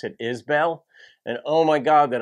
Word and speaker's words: Isbell: i'm doing a subscriber request today of jason isbell jason is i remember the first reaction i did to jason a few years ago i pronounce it isbell and oh my god that i hear from